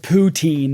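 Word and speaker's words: poutine: is originally from Quebec and it's French and ptin is how you pronounce it in French okay well for anyone else he's saying the the Canadian is trying so hard to say the word ptin in a fancy way ptin I've never heard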